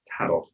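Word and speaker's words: Thadoch: Problem is, I've written it down how it will be spelled, but I haven't written down how to pronounce it. So it's Tadok.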